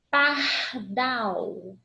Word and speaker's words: pardal: Pardal, pardal. Pardal não é acentuado, mas eu chamei e eu vi que a última sílaba é que se prolonga mais na minha pronúncia.